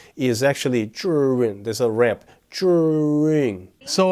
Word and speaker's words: Zhiyun: Okay, so it pronounced Zhiyun, meaning smart cloud.